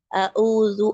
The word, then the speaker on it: أعوذ: அப்போ அஊது நம்ம என்ன பண்ணிடக்கூடாது, அந்த ஐனையும் அலிஃப் மாதிரி ப்ரொனவுன்ஸ் பண்ணிடக்கூடாது. அஊது அப்படி படிக்கக்கூடாது. அஊது பில்லாஹி மினஷ் ஷைத்தானிர் ரஜீம்.